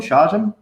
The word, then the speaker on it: Shawgen: Shawgen?